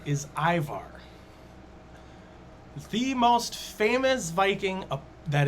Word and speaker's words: Ivar: Aimar's Viking pronunciation is Ivar.